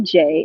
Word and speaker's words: Jaye: know where to begin you can put in j and j is spelled j-a-y-e all right it's just